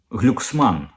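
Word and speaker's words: Glucksmann: він проукраїнський Слава Богу цей самий глюксман глюксман вірніше Він же ж балотувався у Франції він французький політик а там наголос завжди на останній склад оцей от самий глюксман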